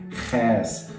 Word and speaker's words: Chäs: It's a bit of a special sound. It's like you clear your throat, so Ch, Ch, Ch, okay? Chäs, like Chäs fondue.